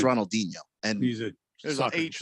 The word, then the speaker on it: Ronaldinho: guy is it's pronounced ronaldinho and music there's an age there soccer player yeah but his name is portuguese you know it's he's